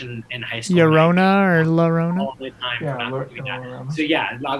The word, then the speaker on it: La Llorona: Yeah, it's called La Llorona. It's spelled LLORONA. I did not take Spanish in high school. Llorona or La Llorona?